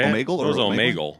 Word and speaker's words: Omegle: It was Omegle. Omegle, maybe. Like a bagel.